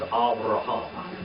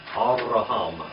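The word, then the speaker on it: Avraham: for a home now that's the way you really say off Abraham is over a home okay and you kind of roll your R and they're like this like Hispanic over a home all right and then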